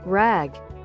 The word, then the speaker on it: RAG: This is where rag, pronounced rag, which stands for asterisk retrieval a asterisk augmented generation, comes in.